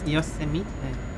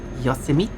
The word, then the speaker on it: Yosemite: That one, I didn't say that. I said Yosemite. I read like a Japanese place. Yosemite.